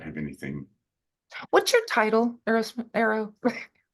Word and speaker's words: Arro: What's your title, Arrow? In my family, we pronounce it Arro.